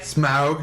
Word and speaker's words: Smaug: Smaug.